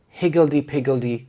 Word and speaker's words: higgledy-piggledy: The children's toys were scattered higgledy-piggledy across the living room, making it impossible to walk without stepping on something. Higgledy-piggledy means disorderly or chaotic. The stress is on the first syllable higgledy-piggledy.